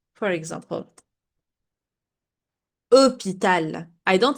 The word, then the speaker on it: hôpital: If you remember, at the beginning, I told you the H is silent. For example, hôpital.